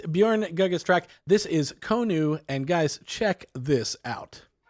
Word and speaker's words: Konu: Would you call it Konu or Kunu? Yeah, Konu. Yeah. Konu.